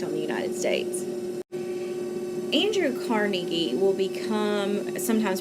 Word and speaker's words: Carnegie: Andrew Carnegie will become, sometimes pronounced Andrew Carnegie, will become one of these large business owners